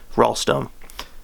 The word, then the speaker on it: Ralston: Halloween Hangover, Ghostland by Duncan Ralston. I pronounce it like Duncan Gallstone, but with an R.